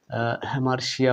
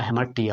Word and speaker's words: hamartia: তো হুব্রিজ এবং হেমার্সিয়া হেমার্সিয়া বা হ্যামার্টিয়া উচ্চারণ হতে পারে মিল হচ্ছে দুটোর মাঝে